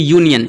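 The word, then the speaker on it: union: तो इसका पहला जो उच्चारण हो रहा है यू से हो रहा है।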